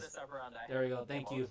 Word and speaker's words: modus operandi: Fox, you know that they have a particular Mundi Operai. I forgot the exact how to pronounce. Modus operandi.